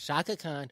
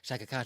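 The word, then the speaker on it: Chaka Khan: It's Shaka Khan. Shaka Khan, Shaka Khan. You gotta say it like that. Shaka Khan.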